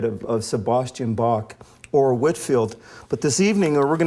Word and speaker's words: Whitefield: and it's it's spelled Whi Tfield, but it's pronounced Whitfield, not Whitefield.